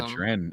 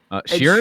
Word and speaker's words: Sheeran: I also got to see a Sharan in the same concert. Sorry, what did you How did you just pronounce that? Sharan, I'm I know it's not how you say it, but Sharon.